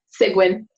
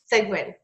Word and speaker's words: Seguin: last name right close enough how do you pronounce it cygwin cygwin okay and she has an office in Upland